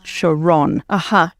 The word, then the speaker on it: Sharon: Because I'm Jewish and was born in Israel, and in Israel people pronounce the last syllable with the accent, so it's Sharon.